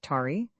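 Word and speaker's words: Taë: The child, whose name was Ta, pronounced Tari, was the magistrate's eldest son.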